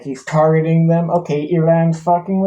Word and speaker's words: Iran: Like, I feel like ever since this whole Iran or Iran, as it's actually pronounced, war BS has happened.